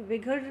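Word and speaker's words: Uyghur: But China में एक विघर community है. स्पेलिंग उसके UIGHAR है, पर उसको कहते हैं विघर हैं.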